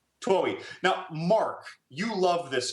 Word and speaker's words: Twohy: How do you pronounce his name? Twohy.